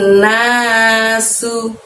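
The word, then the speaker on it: الناس: Yakunun nasu. Su-nya di situ pakai sin kecil tanpa titik 3, maka mengucapkannya dengan ringan, tidak usah meniup angin dari dalam mulut ya.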